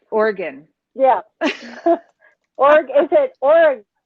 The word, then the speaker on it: Oregon: organ like organ gotcha like like organ like organ i i i there's like no separation in the organ guns two syllables organ organ not oregon i'm trying to make it into three syllables we do that in